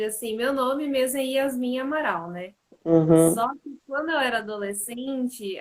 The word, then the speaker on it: Yasmin Amaral: nome aí para nós falar é assim mesmo pronúncia tá certa é na verdade assim meu nome mesmo a yasmin amaral né quando eu era adolescente a galera começou